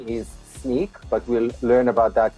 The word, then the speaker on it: Snyk: What I do, I am a developer advocate and engineer for Sneak, and you pronounced it correctly.